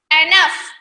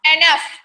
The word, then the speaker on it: enough: Enough. Here GH, the word, these two letters, it changes into the fa sound. Enough.